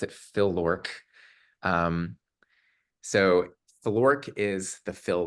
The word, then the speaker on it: FLOrk: So that's how I pronounce it, Phil-LORC.